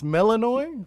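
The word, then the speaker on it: Melinoë: Melaninoi. Oh, it's Melaninoi. That's how it's pronounced.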